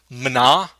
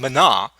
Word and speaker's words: mina: time for a very good reason it's actually pronounced mana and i know what you're thinking because that's what i was thinking it's pronounced in mana not yes yes you're welcome for getting that